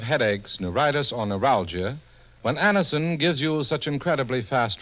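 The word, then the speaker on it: Anacin: It's so unnecessary to suffer from the pain of headaches, neuritis, or neuralgia when Aniston gives you such incredibly fast relief.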